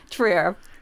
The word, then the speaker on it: Trier: I'm already killing the pronouncing names. Trier.